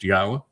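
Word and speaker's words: Yahweh: up with proof that God's name is pronounced Yahwa and have determined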